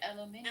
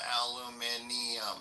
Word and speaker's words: aluminium: They just say it aluminium. I mean, they add an extra syllable, but I think they might spell it with that extra syllable too, maybe.